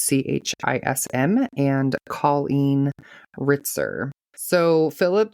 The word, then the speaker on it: Chism: So this week I am doing Philip Chism, I believe is how his last name is pronounced. It's Chism, and Colleen Ritzer.